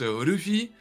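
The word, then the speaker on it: Luffy: tu vois en gros ça se prononce Ruffi après je le fais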